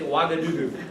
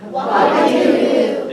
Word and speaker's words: Ouagadougou: Everybody say Ouagadougou. Ouagadougou. Did your teachers pronounce that correctly when they told you We the didn't.